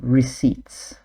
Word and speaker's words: receipts: And note also the pronunciation of receipts. Cross-checking receipts. The P is silent.